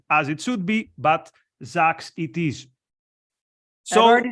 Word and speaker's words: Jacques: So this is what we're going to discuss today with Thomas and with Jacques, which apparently I'm not pronouncing as it should be, but Jacques it is.